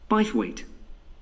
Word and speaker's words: Bythwaite: being held in bythwaite hall sorry how'd you spell that b y t h w a i t e by weight so this is bias weight hall that was